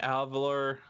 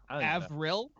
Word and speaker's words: Avril: levine uh how do you say her name avalor avril avril yeah my bad thank god mysteries here